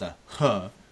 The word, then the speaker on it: Aj: It's spelled AJ, but J is a H in in Mayan under in Mayan language. So it'd be a ah which it's like okay